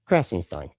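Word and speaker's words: Krassenstein: So, this one is that Brian uh Crassenstein Crassenstein.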